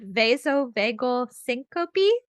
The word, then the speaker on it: vasovagal syncope: It's called vasovagal syncope.